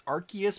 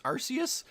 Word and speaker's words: Arceus: to the discord that uh in english it's arceus but in japanese it's arceus so whatever i'm gonna use them interchangeably but